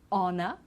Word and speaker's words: honor: is our okay so we don't pronounce the h honor honest and air as well